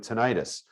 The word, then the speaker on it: tinnitus: a good example of that so somebody with tinnitus initially it might be really annoying unless it gets worse they does anybody know what tinnitus is or tinnitus depending on how you pronounce